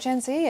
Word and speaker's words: Gen Z: And that is the correct way to pronounce it, by the way. I had quite a rude email a few weeks ago. It's the American pronunciation, a bit like the rapper Jay-Z.